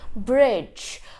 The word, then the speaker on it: bridge: is a silent D whenever D comes before the n and G the D becomes silent for example Bridge we also have budget